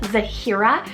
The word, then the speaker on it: Zahira: h i r a zahira this is a rare Zed name but definitely um really pretty because you have like the three syllables a little bit longer um just really beautiful